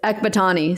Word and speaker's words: Ekbatani: My new last name I just got married is Ekbatani. So it's, spelled exactly how it's said. But yeah, Ekbatani throws people off.